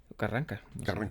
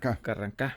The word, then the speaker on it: Carrancá: Carranca. Carrancá. Sí, tiene acento en la A.